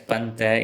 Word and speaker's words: pandada: Pandu plus du plus a, pandada. It's pronounced as panta in spoken Tulu.